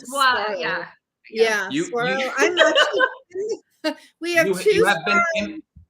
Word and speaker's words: Saguaro: Saguaro. The G is silent. Saguaro, yeah.